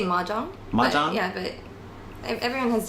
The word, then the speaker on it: mahjong: I usually say maong. Mang. Yeah. But everyone has different pronunciations and in different languages it's pronounced differently. In Europe some some countries say mayong that sounds so French.